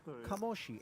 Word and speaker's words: Kamoshi: one Claudio De Marzo, who says it is indeed pronounced Kamoshi.